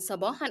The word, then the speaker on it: صباحا: مساء has to be pronounced, and صباحا as well, by the way. Both of them has to be pronounced with the tanween n. It is part of the word.